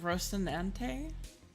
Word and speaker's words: Rocinante: Yeah, but like, how do you pronounce it? Is it Rocinante? Rocinante? Rocinante? I'm hungry. I'm hungry too, Pando. I'm gonna have a bite of soup. We love soup. Oh no, why isn't this? You're pronouncing it pretty well as you said it the first time, Lena.